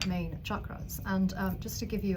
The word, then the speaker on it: chakra: So we'll talk about chakras in a minute, and I always mispronounce it. It's chakra, not chakra.